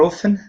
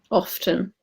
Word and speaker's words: often: what we get often so they say that this T is silent but you do pronounce it I would pronounce it